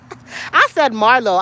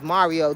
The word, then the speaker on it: Mario: It's definitely my glasses because I said Marlo. I want you to know this. The name is Mario.